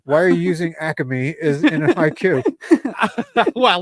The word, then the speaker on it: Acme: pick and choose you can't do that with acame though I feel like you should they only say that yeah they only say that that extra syllable in the Delco region why are you using